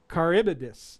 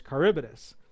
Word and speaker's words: Charybdis: and put it in there, and it actually pronounces it for you. Charybdis, there it is, Charybdis.